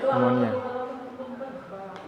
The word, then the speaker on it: pneumonia: Pneumonia. Ya. P-nya nggak dibaca. Pneumonia.